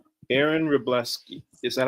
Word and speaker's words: Wroblewski: Would you mind Aaron telling me how to pronounce your last name so that I don't butcher it? Uh, Reblleski. Aaron Rebleski.